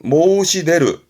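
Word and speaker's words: 申し出る: 발음은 모시데르.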